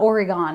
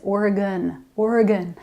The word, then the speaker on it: Oregon: If you’ve seen “Siskiyou” in the books have you been like, “How do you pronounce that?” It’s kind of like it’s “Oregon”...it’s not “Or-eee-gone”, it’s “Or-y-gun”.